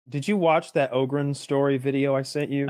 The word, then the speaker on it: Ogryn: called an ogre story ogren is spelled o-g-r-y-n and ogren is one